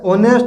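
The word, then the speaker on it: honest: चलिए आगे देखें तो एन एक्टर, एक ए आ रही ध्वनि, एन एग्जाम्पल, ये तो इजी है, लेकिन ये जो है अवर, ऑनेस्ट और एयर, ये तीन शब्द एस से शुरू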